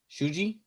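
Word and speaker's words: Tsuji: How do you say TS in Japanese? Shuji? Yeah, What? the T will be silent.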